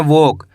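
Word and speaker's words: walk: WOLK इसे पढ़ेंगे वॉक, क्या पढ़ेंगे वॉक। इसके अंदर एल साइलेंट है, कैसे पढ़ेंगे वॉक।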